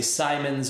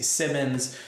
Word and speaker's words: Simon: because it's written simon so if i say simons or if i see simmons both of those are for sure going to be wrong but i lean on simon as the correct pronunciation there correct me if i'm